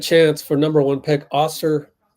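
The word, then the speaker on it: Ausar: for number one pick oser Thompson pretty sure it's pronounced AER but I was not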